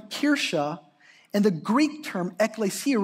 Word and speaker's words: Kirche: The German term Kirche, Kirche, any German speakers out there?